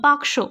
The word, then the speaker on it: বাক্স: ধরুন দরজা বা বাক্স, অনেকে দেখবেন বাস্ক বলে, কিন্তু বাক্স বাক্স শুনতে শুনতে সে বুঝে যায় যে এটা অ্যাকচুয়ালি বাস্ক নয়, এটা বাক্স।